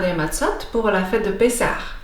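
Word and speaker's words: מצות: On dit une matzah et des matzot au pluriel.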